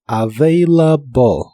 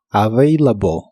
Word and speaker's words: available: y usaremos la palabra available que significa disponible la v en inglés es la biodental y vibrante la segunda a de esta palabra se pronuncia como e y la terminación ble